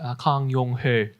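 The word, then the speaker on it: 강용흘: Young Hil Kang was how he spelled his name in English. In Korean, his name would be pronounced Kang Yong-ho.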